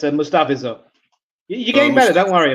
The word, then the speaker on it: Mustafa: The at the end is pronounced as in pure, but Mustafa.